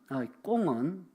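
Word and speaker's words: 宮: 꿍. 궁궐할 때 궁. 대만식 발음은 꽁이에요. 꽁. 이 꽁은 불교와 도교, 우리로 말하면 완전 민간신앙, 이 세 가지가 완전히 짬뽕이 된 혼합 종교입니다.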